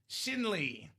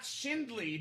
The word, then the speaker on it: Shinley: Shinley. Not Shindley, no D. Shinley. No D in there.